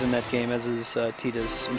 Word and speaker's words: Tidus: that game as is tetus and she calls him tetus pronounces it that way they pronounce him the other way in Kingdom Hearts 2 and most other presentations of the character where it's voice acted we want to